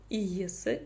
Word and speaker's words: иесі: Как прочитать палочку с точкой в конце этого слова? Это нечто среднее по мягкости звучания между буквами и ис, ис.